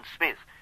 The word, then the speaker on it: Psmith: variety might be introduced the P I should add for your guidance is silent as entices psychic and Tagan